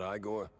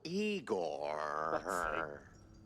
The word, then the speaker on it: Igor: I'm E I not Igore. No, Eigor.